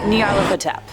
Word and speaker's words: Nyarlathotep: Number 5, Nyarlathotep. A super fun one to pronounce, I promise, I looked it up.